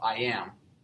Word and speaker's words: iamb: The word itself, iamb, the second syllable of it is the stressed or emphasized one.